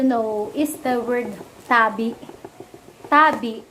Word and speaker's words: tabi: Tabi. The stress is in the first syllable. Tabi.